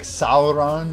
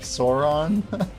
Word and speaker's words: Sauron: It's just like the whole like Sauron versus like Sauron. Like a lot of the old pronunciation, people thought it was Sauron, but there's like actual footage of Tolkien being like Sauron.